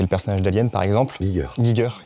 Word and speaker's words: Giger: Giger, que je prononce bien, t'as raison de corriger.